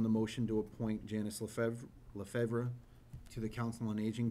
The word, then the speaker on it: Lefevre: Am I pronouncing that correctly? It's Lefevre. Lefevre.